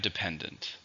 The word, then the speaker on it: dependent: Finally, we have dependent, which means you need help or support from somebody or something. It's an adjective. How many syllables are independent? 3 stresses on the second. Dependent.